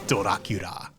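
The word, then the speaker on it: ドラキュラ: as a villain name in Japanese it's dorakira As She Goes there's consonants in that Grandma won't come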